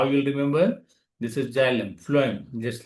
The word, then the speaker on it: phloem: chlorophyll photosynthesis process and food how you remember this is flim just like a food so similar kind of pronunciation you can see phm so something like